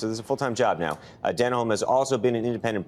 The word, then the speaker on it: Denholm: so Robin denim denim Dan denim oh that that is how you say it spelt D and H Oh LM now just who is